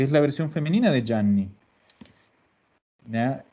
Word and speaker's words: Gianni: Que aquí muchos dicen Gianni. No, es. La pronunciación es Gianni. Le voy a poner 3 N para que se acuerden de que hay que alargarlo.